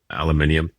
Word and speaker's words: aluminium: Anyway, so you know how in UK they call it aluminium and we call it aluminum. I love aluminium, but there's an extra I when they spell it versus us. Anyhow, that's why it makes it aluminium.